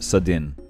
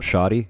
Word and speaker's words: Sadin: No, I said it right, Sadin, not Shadi, this is Sadin.